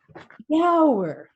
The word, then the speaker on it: bjerg: No, she says, the word begins with B-J. You need to pronounce the J. Like Bjorn or Bjork. I try again. Bjauer. The word is spelled B-J-E-R-G, like berg or mountain, but in Danish it is Bjauer.